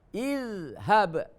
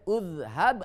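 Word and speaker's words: اذهب: Idhab, ya. Tulisannya seperti ini dibacanya idhab, bentuk fi'il sulasi, ya. Idhab, idhab, tidak boleh udhab atau azhab, ya. Jadi dibacanya idhab, intaziru, istaghfiru, ya. Karena huruf ketiganya bukan dhammah.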